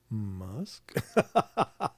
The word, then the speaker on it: Musk: Rhymes with tusk. Mm-hmm. Musk.